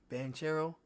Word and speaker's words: Banchero: you pronounce his name benanchero is how you pronounce his name banchero I hope I know I'm butchering these dudes